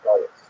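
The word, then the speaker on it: גלות: but the word exile, the Hebrew galut, or in the Ashkenazi pronunciation, galus, that Jews were thrown out of their land.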